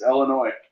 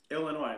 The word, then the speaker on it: Illinois: It's the S is silent. It's Illinois. That's what I say. Illinois.